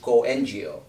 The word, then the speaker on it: CoNGO: i had my way i would rather that it's pronounced co-ngo and as a matter